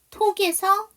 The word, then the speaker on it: talk: 톡에서 L 사운드, ALK로 끝나는 단어, L 사운드 묵음.